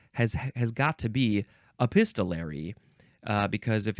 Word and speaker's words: epistolary: Bible next we have epistolary epistolary or epistolary or staller you can emphasize either one of those syllables a a pist uh